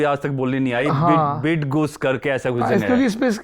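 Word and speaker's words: Bydgoszcz: तक बोलनी नहीं आई बिड गुस करके ऐसा कुछ क्योंकि इस इसकी स्पेलिंग है बी वाई डी जी ओ एस जड सी जड हां बिड बिड गोस करके है बिड गोस जगह रहते रे ग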